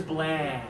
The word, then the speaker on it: bland: three blah and one two three two fingers bland yeah good job Demetri try this one for